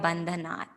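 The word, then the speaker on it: बन्धनात्: First, often what we hear is Urvarukamiva Bandhanat, as in a ta ending there. So the original word there, bandhanat, does end with a ta.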